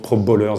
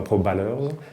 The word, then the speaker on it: Pro Bowlers: Donc je suis gérant de la société Momentum Production et de la société Pro Bowlers, qu'on prononce Pro Bowlers et pas Pro Ballers.